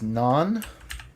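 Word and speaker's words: 南: Okay, so this is south, which is non, just like, well, similar to Indian bread.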